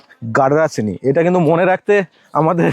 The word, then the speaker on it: গাডরাসিনি: গাডরাসিনি। এটা কিন্তু মনে রাখতে আমাদের দাঁত ভেঙে যাচ্ছে। অনেক কিছু উচ্চারণ করেছি।